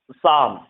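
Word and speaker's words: psalm: Mnemonic, sorry pneumatic है, pneumatic, इसे हम पढ़ेंगे साम। यहाँ एल भी साइलेंट है, क्योंकि एल के जस्ट बाद एम होता है तो एल साइलेंट होता है, ठीक है।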